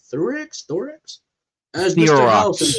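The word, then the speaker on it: Theroux: Thorex, as Mr. House and Therox.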